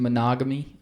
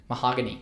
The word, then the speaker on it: Mahogany: Christian Monogamy. I can't even say his name. Mahogany. That's how you say it right.